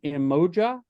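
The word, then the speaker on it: Umoja: had written down in my notes how to pronounce that emoja is that right right yes right and it's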